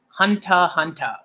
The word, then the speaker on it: Hunter x Hunter: greatness or as people as is it's rightly pronounced hunter hunter alright I might start saying it like that